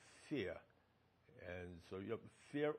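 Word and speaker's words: Fehr: fare in there and his name was pronounced fair for many years and then he decided he wanted to pronounce fear and so you have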